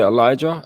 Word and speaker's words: Elijah: first spoke, because is it Elijah? Am I pronouncing that right? Yeah, that's it. Yeah.